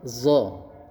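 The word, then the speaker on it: ظاء: Kemudian selanjutnya adalah huruf Do. Nah, d ini bentuk mulutnya sama masih seperti huruf th. Hanya menggunakan huruf z.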